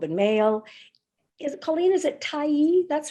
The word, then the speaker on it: Tyee: Colleen, is it Tyee?